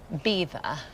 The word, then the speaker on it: Belvoir: the man's family and they couldn't really pronounce beaver so they called it belvoir because of the beautiful view let's go and see